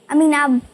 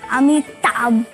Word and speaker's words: अमिताभ: मेरी बहन ना आपको पता क्या बोलती है अमीना बच्चन अमीना अमीना अमीना बच्चन बाबा अमीना बच्चन बाबा अमीना बच्चन बाबा क्योंकि उसको प्रोनाउंस एशन नहीं आता ना अमिताभ बन हां वो नहीं आता अभी वो थोड़ा